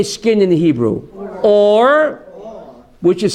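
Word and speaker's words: עור: Or, which is spelled ayin resh, right?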